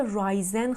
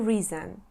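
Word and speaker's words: risen: ریزن میشه حالت سومش بچه‌ها حواستون باشه رایزن خونده نمیشه میشه ریزن رازین رایزینگ وقتی که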